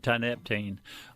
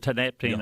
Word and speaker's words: tianeptine: I pronounce it Tianeptine. It's pronounced a few shades of that, but Tianeptine I think will do.